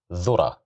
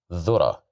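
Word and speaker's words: ذرة: Again, here we have the letter dhal, and we have dhamma, so we will pronounce it as dhu, dhura, dhura, dhura, which means corn, dhura.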